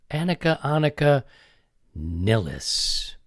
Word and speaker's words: Annika Nilles: Annika, or now maybe some people come back and say it's Annika. Annika Nilles.